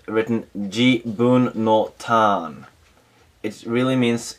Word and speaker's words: 自分: It's written jibun no tan.